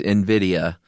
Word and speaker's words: Nvidia: Apparently it's NVIDIA.